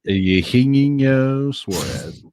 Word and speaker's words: Eugenio Suarez: Eugenio Suarez.